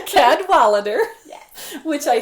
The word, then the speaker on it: Cadwallader: Cadwallader. Cadwallader.